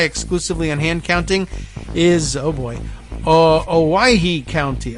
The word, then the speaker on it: Owyhee: Owyhee. So not too bad, right? I think that's actually kind of what I came up with. Owyhee, a little bit like Hawaii, but it's not.